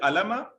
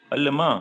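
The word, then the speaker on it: عَلِمَ: Alima. Excellent. Somebody said alima. Please No. remember, pronounce it right. It is alima, like samia. It is not alama.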